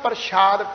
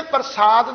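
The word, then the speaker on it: ਪ੍ਰਸਾਦਿ: है ध्यान विच रखियो एक इदा उच्चारण कई सज्जन प्रशाद कर जांदे जी प्रशाद नहीं करना उच्चारण ससे पैर बिंदी ला के प्रशाद नहीं कहना य अशुद्ध होवेगा एक गल उच्चारण है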